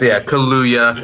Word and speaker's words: Kaluuya: And it's Kaluuya, if anyone. Kaluuya. Yeah, Daniel Kaluuya. Yeah, that one's fairly easy. It's as it's spelled.